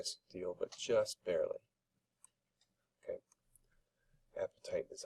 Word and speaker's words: apatite: Apatite is how you say the example mineral here.